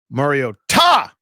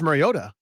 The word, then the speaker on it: Mariota: Mario Ta the broadcast team tonight. Right. But why did you say that? Because they're emphasizing the Ta which is the correct way to pronunciate.